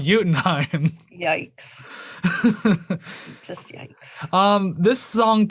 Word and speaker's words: Jotunheim: Although it's if you want to be American about it, it's Jotunheim, but it's pronounced Jotunheim.